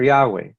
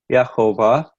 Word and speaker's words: Jehovah: are first fruits for Yahweh now again using the this would be more the Aramaic pronunciation as as shown in the Assyrian Jenaya form the proper pronunciation in Hebrew was Jehovah for anybody that's noticing